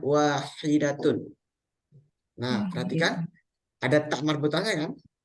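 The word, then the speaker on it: واحدة: muzakarnya atau laki-lakiakarnya maka bacanya wahidun kalau muanasnya bacanya wahidatun nah perhatikan ada ta marbutnya Kanah kemudian yang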